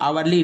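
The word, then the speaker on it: hourly: ये आवरली report है, तो आवरली रिपोर्ट को हम क्या बोलते हैं, यहाँ पे देखिए इसमें भी एच साइलेंट है तो ओ के अनुसार एन लगा दिए।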